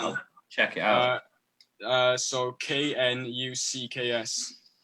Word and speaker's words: Knucks: I like Nux. Has anyone listened to Nux? Nah, man. No. How do you spell that? I'll check it out. So KNUCKS. Say that again. So it's like Knuckles, like K.